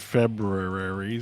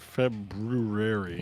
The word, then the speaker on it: February: John did February. February. February. There's always that R after the B that I'm like, do you have to make sure to pronounce that? February.